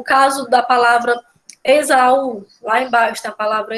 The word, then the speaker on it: Esaú: O caso da palavra Esaú, lá embaixo tem a palavra Esaú, né? É a mesma situação, né? Se a gente fosse separar a palavra Esaú, ficaria Esaú, né? São 3 sílabas.